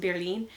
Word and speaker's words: Berlin: in German I think in German it's pronounced Berlin and then we say Berlin and I just merged those two together.